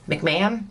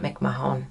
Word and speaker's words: McMahon: those names you guys mcmahon not mick mahone mcmahon i knew my brain